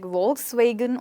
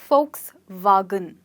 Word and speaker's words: Volkswagen: We all end up calling it like Volkswagen or something like that when it's actually pronounced as Volkswagen. So folks is the folks that you have, your dear friends, and a gun if you want to shoot them. So this is one way to remember it, Volkswagen.